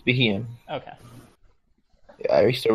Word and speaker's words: Beheeyem: I think it's Beheeyem. It's Beheeyem.